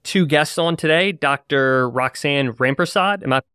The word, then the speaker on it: Roxane Rampersad: so we have two guests on today Dr Roxanne rampersod am I pronouncing it correctly Roxanna that's correct yep okay